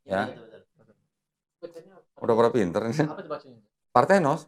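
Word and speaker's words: παρθένος: Parthenos bacanya. Bukan, lu jangan sampai nama Latin. Kalau Greek itu pengucapannya beda sendiri, nggak kayak sama kayak Latin.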